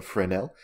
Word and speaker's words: Fresnel: type in for now which is spelled like fresnel but it's named after the guy that developed it I guess so it's a friend L and if we right-click